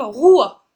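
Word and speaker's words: Ruadh: ruad Prince ruad alors c'est un prénom écossais qui se nomme Roua Roua d'accord Roua donc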